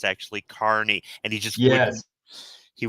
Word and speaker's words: Kearney: to explain to somebody at work how to pronounce uh Carney he kept saying Kearney and I'm like no it's Carney Carnival workers yeah he wouldn't stop and I'm